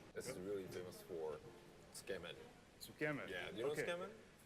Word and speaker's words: Tsukemen: Tsukemen.